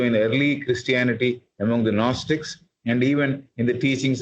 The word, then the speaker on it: Gnostics: G is silent. Do we not find the same also in early Christianity among the Gnostics and even in the teachings of Christ?